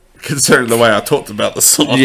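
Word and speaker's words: WEi: It's going to be Way. Yeah. The boy group, Way. Yeah. Spelled W-E-I.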